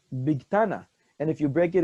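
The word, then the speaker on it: Bigthana: It's not for Ashkenazim, because Ashkenazim will pronounce it Big Sana with a Saf and not a Taf. But Sephardim will pronounce it Big Tana.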